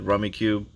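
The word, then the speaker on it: Rummikub: We played Rummy Cube. Or it says Rummy Cube, but there's no U-E at the end, so it's like Rummy Cub. I think that's how it should be pronounced, but hey, I didn't create the game.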